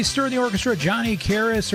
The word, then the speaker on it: Karas: Here's Jimmy Sturr in the orchestra, Johnny Karas, or as they say in Buffalo, Johnny Kadash, which is the Polish pronunciation of the surname.